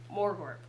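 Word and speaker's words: Morgort: poliwog for this my name my name is more burp yeah yeah he pronounce it very well it's m-o-r-g-o-r-t more Corp uh the Knight of warts the Knight of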